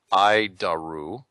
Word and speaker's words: ADIRU: So, the ADIRU system, also known as the Air Data Initial Reference Unit, we pronounce it IDARU.